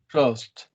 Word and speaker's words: crossed: Crossed. Like T, because no vibration.